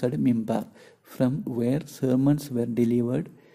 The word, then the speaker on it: minbar: Two, a pulpit or minbar, pronounced mimbar, from where sermons were delivered during noon prayers on Friday.